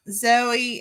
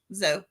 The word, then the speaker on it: Zoe: If you're like me, it's Zoe, and nobody says it right. Everybody calls her Zoe. Zoe. Z-O. Like Joe.